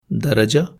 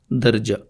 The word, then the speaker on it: درجہ: دو تلفظ رائج ہیں، درجہ رے زبر کے ساتھ اور رے جزم کے ساتھ، درجہ اور درجہ۔ اسی طرح فرشتہ فے